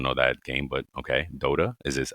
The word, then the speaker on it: Dota: I don't know that game, but okay, Dota. Is this? Am I saying it right? Yeah, Dota 2, Dota. Dota It's like 2.